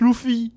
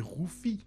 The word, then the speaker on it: Luffy: on prononce le film c'est loufi bon on sait tous très bien que ça se prononce Luffy même non techniquement ce serait Rufi parce que c'est mais bon super on